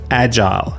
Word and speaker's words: agile: My recommendation, stick with agile, especially international settings. It's the most widely understood pronunciation in the tech world.